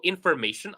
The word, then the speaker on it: information: Actually, it's ma. Listen carefully. Information. Information, right?